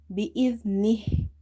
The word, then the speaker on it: بإذنه: When the ha is silent, we give it as we read it like this, nih bi-idhnih.